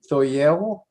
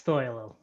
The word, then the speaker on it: Thoyle: I don't want to Thoyel. It's Thoyle. Thoyle.